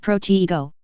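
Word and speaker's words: Protego: It's<unk>s pronounced proteiggo with the stress on the second syllable and it shouldn't be spoken too fast.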